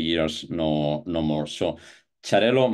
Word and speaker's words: Xarel·lo: no no more so charell might come from the Italian charell but it's quite recent on the way we pronounce it in in Catalonia yeah we also have another name for for chello that's also an important